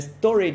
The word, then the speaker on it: Storj: Storage sería, creo, la pronunciación en inglés, en castellano no sé cómo va a terminar siendo pronunciada, pero la palabra es almacenamiento, ¿no?